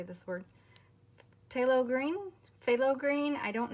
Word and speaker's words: phthalo: Phthalo green, phthalo green.